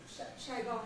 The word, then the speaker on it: Saigon: So what about the word Saigon in Vietnamese? We have Saigon here, the British say Saigon. We're supposed to say Ho Chi Minh City, I believe, these days. We say Saigon, yes. Saigon. We say Saigon. And you've got shy, Saigon. retroflex, shy, Gone. gone. Gone. Sounds like gone.